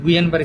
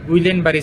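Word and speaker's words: Guillain-Barré: Actual উচ্চারণ কিন্তু গুইয়েন-বারি syndrome, এলের উচ্চারণ হয় না, কিন্তু আমাদের দেশে আমরা করে থাকি গুইলেন-বারি সিনড্রোম।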